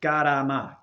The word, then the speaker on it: karma: you're using that word, you should say it properly to the proper translation, meaning karama, karama. And also, just so you